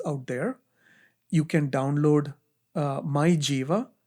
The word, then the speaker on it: MyJeeva: You can download My Jiva. It's spelled as MYJEEVA.